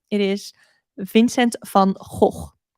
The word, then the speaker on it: Van Gogh: name it is Vincent Van ho so that is how you pronounce it in Dutch so just a little